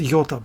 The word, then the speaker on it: iota: um having not one iota of even though it's pronounced yota but anyway of um